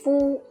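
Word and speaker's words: 夫: with the Curve goes beyond the top it's pronounced as full means husband or a grown male well in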